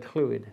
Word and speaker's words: Clwyd: Did you notice the way I said Clwyd? That's the Welsh pronunciation of Clwyd.